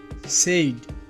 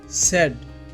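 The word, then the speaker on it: said: উচ্চারণটি হবে usually usually সেইড এটি ভুল উচ্চারণ এর সঠিক উচ্চারণটি হবে সেড সেড টিনি এটি ভুল উচ্চারণ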